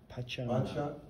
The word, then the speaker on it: Pachamama: Pachamama. Pachamama. Mm-hmm. That's his mother in Italian. Yeah, so Pacha, not bacha. Pacha. Pacha with a P.